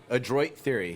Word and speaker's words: Adroit Theory: say that brewery shot what's what's the proper pronunciation what he's cheating adroit right very adroit theory yeah do we know what adroit means that's